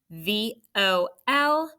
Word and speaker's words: volume: We said V-O-L is a closed syllable, and we put a breve for vol. And the last part, U-M-E, is a vowel consonant E syllable. And we put a macron because it's a long U, like you, mule, you, and cross off that silent E.